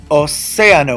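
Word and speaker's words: océano: espanol CIA sent escrito Oh say ah no when I have to open vowels together ar it creates what's called a yacht of two syllables Co more linear linear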